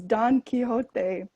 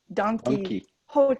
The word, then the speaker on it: Don Quixote: And the other funny thing is it's Don Quixote, but everyone in my class thought it was Donkey Hote. Because if you say Don Quixote, it sounds like the word, like the English animal, donkey. So our teacher had to be like, no, it's not donkey. That's not his name.